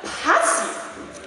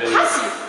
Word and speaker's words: Passiv: Das heißt doch Passiv. Ja, mein Duden sagt das auch. Schau, Andreas, der Punkt ist eindeutig über dem A. Passiv.